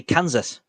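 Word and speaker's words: Canzus: to go and say Kansas let me spell that for you c-a-n-z-u-s that will open the windows Kansas as in the American Steak we're not in Kansas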